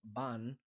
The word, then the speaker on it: Bâan: We are reacting to ban, but I believe the correct pronunciation is ban with a longer emphasis on the double A.